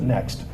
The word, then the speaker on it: NXT: They pronounce it Next, but there's no E.